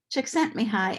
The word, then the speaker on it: Csikszentmihalyi: who first identified flo so what is flow chick sent me high and i'm really pleased that i'm able to pronounce his name so thank you for letting